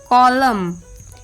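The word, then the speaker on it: column: एंड the rule is एन is often silent when following M एट द एंड ऑफ a word last में जब एम आता है तब N silent होता है जैसे ऑटम एच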